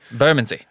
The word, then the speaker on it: Bermondsey: You got to say it like you don't even want syllables. I don't even want to say it. Burman. Like you don't even part your lips. I don't want extra syllables in this word.